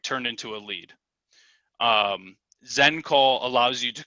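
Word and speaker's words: XenCall: system that i use is called zen call and that's spelled x e n call zen call so the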